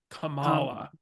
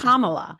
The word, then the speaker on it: Kamala: in all seriousness I have always said Cala like back from back but it's Kamala when did we first